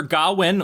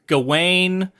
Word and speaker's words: Gawain: but uh sir gowin which i say gowin sometimes it's gawain um i've heard it pronounced different ways i think in the movie they pronounce it different ways in the beginning they call them garwin i like gowin that's just easier for me to say sir gawain in the